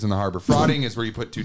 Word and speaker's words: frotting: Frotting is where you put two dicks together and you go like that. Frogging? Or frotting. Like F-R-O-T-T-I-N-G. Jeez. Yeah. It's frotting.